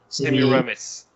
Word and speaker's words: Semiramis: it a verse of Semiramis yes how do you is that how you pronounce that sis in me same yeah yeah Semiramis seamlessness that's the pronunciation in French all right where Wow